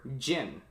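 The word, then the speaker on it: Jyn: character the creator's daughter gin yes it's pronounced as in the liquor brand jen and the robot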